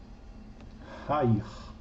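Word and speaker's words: העיר: É uma gutural, eu vou ter o Re com Kametz, né? Ha, Hair, a cidade.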